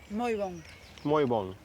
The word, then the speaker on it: Moi bon: Muy bon.